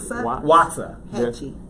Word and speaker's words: Waxahachie: I was in a little small town called Waxahachie, which is just south of Dallas. Watch it, who? Waxahachie. Watch it. Waxahachie. If anybody's from, what's the name of that place again? Waxahachie. Waxahachie.